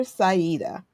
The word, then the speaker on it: Sayeedah: healing, affectionately known as Sister Sida. I pronounced that right?